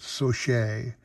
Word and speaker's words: Saucier: how you pronounce it it's like saucier but so shay he was a philly